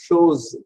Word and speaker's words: chose: ஷோஸ், ஷோஸ்னா thing. CH எப்பவுமே பிரெஞ்சுல இஷ் sound தான். ஓ show, S ஓ, எஸ் in between two vowels is always pronounced as Z sound.